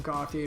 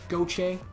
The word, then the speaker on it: Gauthier: Sorry that I call him Gauthier, by the way. I know that's not how you pronounce it, but it's the way my brain pronounces it. And, yeah, I'm stubborn sometimes. Goche. Isn't it Goche?